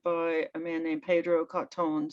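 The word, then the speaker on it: Cottone: a man named pedro cotton c-o-t-t-o-n-e i think he would pronounce it and he just turns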